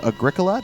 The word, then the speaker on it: Agricola: to the party uh played a game called Agricola that's the correct pronunciation isn't it uh yeah y it means